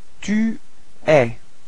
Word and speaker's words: tu es: Tu es. Alright, so you can notice that it's open eh, eh.